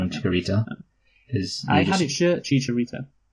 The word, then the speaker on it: Chicharito: Okay, you called him Chicharito. I had it shirt Chicharito. You know what, Luke? Okay, I yeah. get that you can pronounce his name properly, but to me he'll always be Chikorita, because it's easier, not Chicharito.